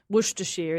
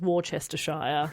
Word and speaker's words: Worcestershire: Worcestershire is Worcestershire. Yeah. They chop out syllables willy-nilly over there.